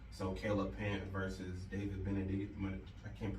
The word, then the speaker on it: Benavidez: So Caleb Plant versus David Benavidez. I can't pronounce his last name.